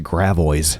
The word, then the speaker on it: Gravois: There's a street here that's spelled Gravis. and we pronounce it Gravois.